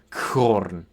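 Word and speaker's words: khorn: So, this combination of kh is a and sound. And that sound is the same as you would have in German Buch or Scottish uh loch. So, it's a as we have Korn corn.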